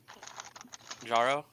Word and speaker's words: Jaro: mean so so um is it jarro or jro by the way I've been saying your name wrong uh jaro okay okay so yeah jarro